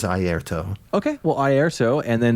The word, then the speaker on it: Airto: I think it's Airto Moreira. I'm probably mispronouncing his last name, but it is Airto.